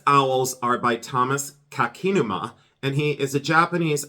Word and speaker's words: Kakinuma: go being distracted so I wrote down the pronunciation of this and this artist is Thomas and it's kakinuma and it's kak Thomas kakinuma and he is